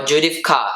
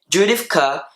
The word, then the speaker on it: Judith Kerr: So as we can see, the author of this book is Judith Kerr, or Judith Kerr is pronounced in Deutsch and German.